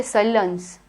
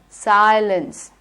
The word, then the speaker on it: silence: Now in the word silence, which sound do you have? You have the long I sound. Silence. Don't say silence. It is I, silence.